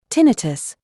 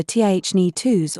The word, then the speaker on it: tinnitus: Tinnitus, pronounced either tinnitus or tinnitus, is defined as a sensation of sound in your ears, sometimes in your head.